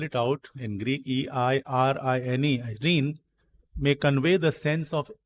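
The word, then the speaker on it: εἰρήνη: The Greek word peace, I'll spell it out in Greek, E-I-R-I-N-E, Irene, may convey the sense of inner rest, antarik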